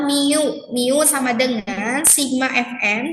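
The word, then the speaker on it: μ: Ini bacanya adalah mu.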